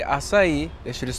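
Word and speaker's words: açaí: Dude, these acaibos are pretty good. It's pronounced acai.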